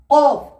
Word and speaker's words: كاف: কাফ simple, কাফ উচ্চারণ হয় আপনার কফ যেখান থেকে উচ্চারণ হচ্ছে তার একটু আগের অংশের সাথে লেগে উচ্চারণ হয়।